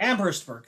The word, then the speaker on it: Amherstburg: I might be pronouncing it incorrectly. Amherstburg, yeah. Amherstburg, thank you.